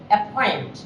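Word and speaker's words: appoint: যদি স্ট্রেস থাকে, স্ট্রেস, যেমন অ্যাপয়েন্ট না, অ্যাপয়েন্ট না, আমরা এটা বলি অ্যাপয়েন্ট, অ্যাপয়েন্ট, তাহলে এখানে একটা স্ট্রেস আছে, পর উপরে একটা স্ট্রেস আছে, এজন্য এটা অ্যাসপিরেটেড হবে অ্যাপয়েন্ট।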